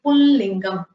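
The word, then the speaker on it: पुंलिङ्गम्: So you say Pullingam, not Pullingam without a nasal sound. You say Pullingam. which is why it has a dot.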